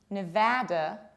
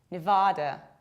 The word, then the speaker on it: Nevada: And this one is not Nevada, Nevada, no. These vowels have different quality and quantity. This is Nevada, Nevada, or you can also potentially say Nevada, Nevada with long R.